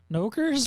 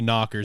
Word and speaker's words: knockers: I think it's pronounced Nokers? No, it's actually knockers in the manga.